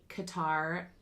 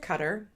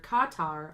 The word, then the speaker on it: Qatar: The CEO of Qatar Airways. Some pronounce it Qatar, like the bug spray, but that's wrong. I Googled it and it is wrong. It's either Qatar or Qatar. according to Wikipedia.